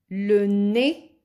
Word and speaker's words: le nez: Le nez. Z is silent.